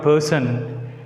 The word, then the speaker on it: person: Here in the disyllabic word person, the first syllable, the first 3 letters P-E-R is uttered with more force.